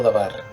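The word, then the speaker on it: דבר: El término palabra se pronuncia en hebreo dabar.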